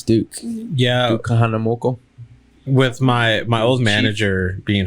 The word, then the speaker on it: Kahanamoku: That's what I can pronounce, Duke. Yeah. Duke Kahanamoku.